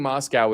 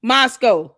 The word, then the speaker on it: Moscow: But I was in Moscow and Moscow Moscow. She's saying Moscow. It's Moscow. Candace, it's Moscow. Moscow. M A S K O U, that's how I spell to pronunciate it.